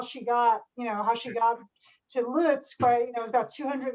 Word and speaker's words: Lutsk: Is it Lutska? Am I pronouncing it correctly? Lutsk, yeah, Lutsk, which I think now is in the Ukraine, maybe?